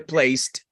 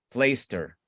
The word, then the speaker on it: placed: Efectivamente, al botar esa H, lo que sigue al sonido t de placed es una vocal. Entonces, como ustedes ya saben lo de linking más o menos, la consonante se pega a la vocal. Y ahí sí suena esa t.